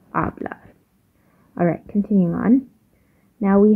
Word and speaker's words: hablar: your English H, while the actual H, the H in Spanish, which is he, is just silent. So that's why if we're talking about hacer, it would be hacer, not hacer. Or in the last video when we were talking about hablar, it wouldn't be hablar, it would be hablar.